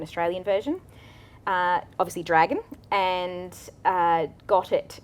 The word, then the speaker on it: Ghotit: It's spelt interestingly because it was actually designed by a dyslexic software engineer. So it's GHOTIT. So if you're trying to search for that, you definitely have to spell it correctly.